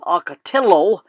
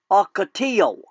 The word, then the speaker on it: ocotillo: so rather than saying acatello and like the english would say the spanish correct pronunciation is ocotillo humming birds love the